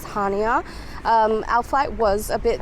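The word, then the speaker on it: Chania: arrived in hania so apparently the sea is actually silent so you I guess pronounce it as hania our flight was a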